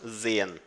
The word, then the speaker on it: sehen: Ver com os olhos, sehen. Na pessoa eu, tá? Não se esqueça de que a letra S no alemão tem som de Z e o H ele é absorvido.